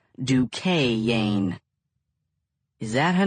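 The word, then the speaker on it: Duchannes: Lena Dukane, pronounced in the south to rhyme with rain. The way Amma rolled it out, you would have thought the word had an extra syllable. Douain.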